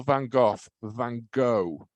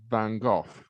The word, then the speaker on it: Van Gogh: the way Americans call Van Gogh Van Gogh oh right uh so I I'm quite yeah no but but but the correct pronunciation is Van Gogh because it's dutch so that's the correct